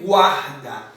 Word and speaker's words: guarda: Temos a terceira palavra que é guarda. Perceba quando eu falo guar, eu pronuncio o G, o U e o A.